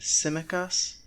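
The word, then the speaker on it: Tsimikas: back from olympiakos named simekas i believe the t is silent in greek yeah so he is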